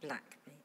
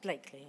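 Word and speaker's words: Blackley: I call Richard Wilson from Manchester, Gorton Central and Blackby. I'll correct that, Blakely, apparently. One of the great quirks of our English language. I'm an expert on British place name pronunciations.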